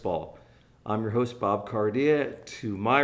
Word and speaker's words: Carde: No, I But people call me Carda all the time, which is actually technically the Italian pronunciation, but like it's Cardia, right?